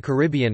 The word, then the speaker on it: Caribbean: The two most prevalent pronunciations of Caribbean outside the Caribbean are car bn, with the primary stress on the third syllable, and caribbean, with the stress on the second.